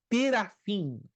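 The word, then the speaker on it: תְּרָפִים: ídolos, está a palavra terafim. Terafim quer dizer deuses de família. Toda palavra hebraica que termina ou que se pronuncia com im é plural. Plural. Im.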